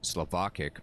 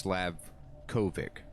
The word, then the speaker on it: Slavkovic: I keep saying Slovakic, but it's Slavkovic.